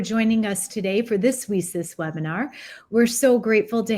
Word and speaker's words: WiCyS: We spell it WiCyS and pronounce it WiCyS like we sisters, because that's exactly what we are.